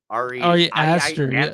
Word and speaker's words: Ari Aster: Man, I'm gonna say this dude's name wrong. Ari Easter. Ari Aster, yeah, director of Who's that?